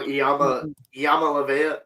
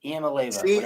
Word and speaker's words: Iamaleava: Nico Iamaleava or Iamaleava. See, you're saying it wrong. Whatever. Nico Iamaleava. How about that? Like Onomatopoeia.